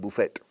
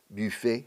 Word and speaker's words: buffet: Un buffet, se dice aquí. Es una palabra francesa. En inglés lo pronunciamos un poco a lo francés. Buffet, no, buffet.